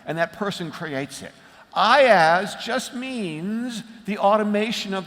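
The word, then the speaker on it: IaaS: a service I i a a s commonly pronounced I as at least by Americans what do you say in Romania do you say iaz no okay well I'm going to say I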